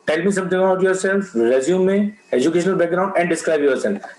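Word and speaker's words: résumé: So, but don't, okay, people pronounce the resume as resume. So resume means you are resuming something. I mean, you have taken a hiatus or you are taking a break. You have taken a break and you are starting it again. So that is resume. So we call it resume. It is a French word, right? So don't say it is a resume. Okay. So resume is a wrong pronunciation. It is resume.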